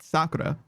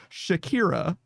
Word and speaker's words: Sakura: I know someone who instead of calling it Sakura, the name of the tree, was like, "Oh, yeah, Shakira." And I'm like, "No, that's too far from correct. I cannot abide by you mispronouncing it that bad. It's not hips don't lie. It's cherry blossoms. Don't Don't call it Shakira.